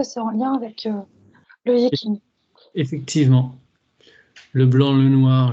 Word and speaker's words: Yi Jing: Le Yiking, alors, bon, ça s'écrit Y-I-J-I-N-G, mais ça peut, en forme un peu plus simple, être écrit Y-I et K-I-N-G.